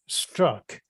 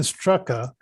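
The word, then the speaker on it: Straka: was about um brandon strzok now some people say it's brandon strucka because it's the a it's a s-t-r-a-k-a and he says that the last a is silent and i didn't know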